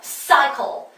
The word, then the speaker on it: cycle: 네, 역시 또 앞에 C와 뒤에 C의 발음이 다르죠? 왜? 뒤에 글자 얼른 보시라는 얘기예요. C만 보지 마시고 C하고 같이 오는 덩어리로 보시라는 얘기예요. 전체를 보시라는 얘기입니다. 다시 한번, cycle. 이렇게 발음됐어요.